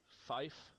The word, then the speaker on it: five: is going to be five is said like five FIF e and last but not